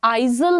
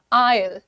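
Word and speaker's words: aisle: तो ये जो बीच का एरिया होता है, इसका प्रोनाउंसिएशन आइजल नहीं है, the pronunciation is आयल, आयल, आयल, आयल, right.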